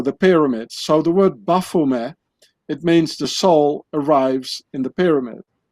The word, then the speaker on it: Baphomet: thing called the Baphomet, which has to be pronounced Baphomet, because the Knights Templars, they spoke French and not English. So the T at the end of Baphomet, it's not being pronounced in French, so you say Baphomet.